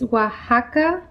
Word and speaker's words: Oaxaca: string cheese okay so this is the cheese oaxaca o a x a c a but it's pronounced oaxaca it is a mexican cheese right